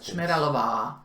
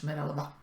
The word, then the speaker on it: Šmeralova: Shmeralova. No, es Shmeralova. Es corto.